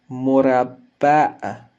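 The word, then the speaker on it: مربع: Murabba', murabba'. Ici, il y a un certain stress sur la lettre B.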